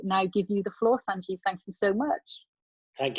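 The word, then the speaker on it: Sanjiv: All these years, I've spelt my name S-A-N-J-I-V, Sanjeev. I'm going to change it to S-U-N-J-I-V, so I can have even more. Sanjeev, that's the way we pronounce it anyway.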